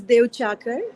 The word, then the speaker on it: Duechakar: even this, my surname, which is Devchakar, how we pronounce it, is a local word from Himachal.